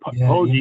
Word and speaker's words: Poggi: man who, there's a man, it is pronounced Poggi, and it's a man who gave his life trying to save someone else's life. And I'm not sure, I Mhm. don't have the story right, because I don't have my notes right in front of me. Yeah, Poggi yeah. is the more correct pronunciation.